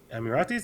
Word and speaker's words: Emiratis: In Abu Dhabi, it's 10% Emiratis, and then everybody else are expats.